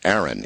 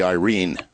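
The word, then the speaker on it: Airyn: my way of thinking, Aaron. It's A-I-R-Y-N, Aaron. But actually, correctly pronounced, as it would be read by a Filipino, would be Irene.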